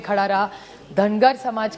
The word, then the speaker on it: धनगर: एक तो धनगर समाज की बड़ी मांग है कि उनको ट्राइब में धनगर, महाराष्ट्र मराठी में धनगर कहते हैं, नॉर्थ में उसी को धनगढ़ कहते हैं. सो इट is only a pronunciation thing.